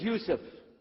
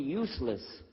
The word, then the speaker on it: Yusuf: My name is Yusuf. Can you say Yusuf? You say Yusuf. You're very good. I wish you'd teach my wife. She keeps mispronouncing it. She calls me useless.